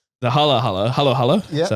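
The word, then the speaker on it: halo-halo: that oh the Hal all right the Hal Halo Halo Halo is how you say it so we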